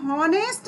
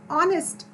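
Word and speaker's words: honest: इसी प्रकार एन ऑनेस्ट, तो हम यहाँ पर एच नहीं बोल रहे, हम हॉनेस्ट नहीं बोल रहे, हम क्या बोल रहे हैं, बिल्कुल ध्यान दीजिए, हम यहाँ हॉनेस्ट नहीं बोल रहे, हम बोल रहे हैं एन ऑनेस्ट, यहाँ पर एच साइलेंट है।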